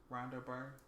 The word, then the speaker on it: Rhonda Byrne: It's called The Secret by Rhonda Byrne. I think that's how you say her name. Or their name. Rhonda Byrne?